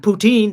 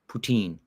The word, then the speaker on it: poutine: Do you pronounce it poutine or poutine? Poutine. Yeah. Poutine.